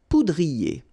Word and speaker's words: poudrier: Un poudrier. Okay, remember, O, U, O. Pou, poudrier.